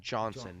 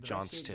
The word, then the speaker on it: Johnson: Brian Johnson, not Johnston.